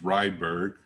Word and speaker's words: Rydberg: so we have the rydberg constant um some folks pronounce this rydeberg i don't know which is correct and the rydberg constant